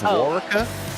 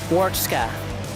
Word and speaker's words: Warchka: Is this Warka? Warchka. Warchka. Yeah. Copy. I'm sorry, Andy. It's Warchka.